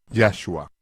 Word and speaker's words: Yahua: dijo, "Llamaréis su nombre Yahhua con énfasis en ya, como es el caso de todos los nombres hebreos.